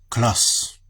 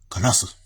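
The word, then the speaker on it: カラス: But it should actually be pronounced something more like Klas, because they make their U silent when it's like that. Kalas, like this.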